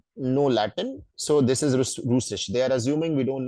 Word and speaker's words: Russisch: Yes, Russisch. So Russian. that is German, guys. Okay, Russisch. You will hear a lot of sha.